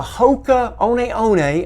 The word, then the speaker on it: Hoka One: And this is a Hoka One, and yes, that's the way you pronounce it, Hoka One Rincon.